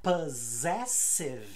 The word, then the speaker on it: possessive: ter som de z como na palavra possessive os primeiros dois s TM som de z e depois som de s pess Hum e muita